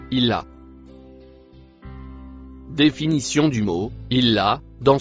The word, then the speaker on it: illa: Le mot en bleu clair se prononce illa.